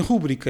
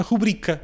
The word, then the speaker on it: rubrica: E no caso da rubrica, que há falantes que dizem rúbrica e outros que dizem rubrica, o que está nos livros e o que é parte do padrão é a rubrica, sem acento, ou seja, com a sílaba tónica na segunda sílaba.